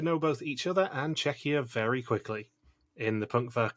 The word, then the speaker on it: Czechia: saying czechia wrong because i was saying it chechia which is how rick kept pronouncing it it's czechia and i will be